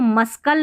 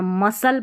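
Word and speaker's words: muscle: अब इसको मस्कल नहीं पढ़ना, मसल पढ़ना है, मसल, यानी यहाँ पर आपने मस और कल पढ़ दिया, सी नहीं पढ़ते हैं तो मसल पढ़ दिया, मसल, ठीक है, मांसपेशी।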